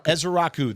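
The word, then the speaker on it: Ezeiruaku: Ezaraku. That is how you say his last name because get used to it.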